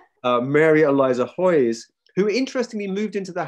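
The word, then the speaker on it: Haweis: most widely read was mary eliza hoyes spelt h-a-w-e-i-s this is where um english turns out to be harder to pronounce than polish mary eliza hoyes who interestingly moved into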